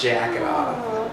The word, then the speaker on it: Dzhaketov: It's It's Russian spelling, so it's D H A K E T O V, but it's jacket off.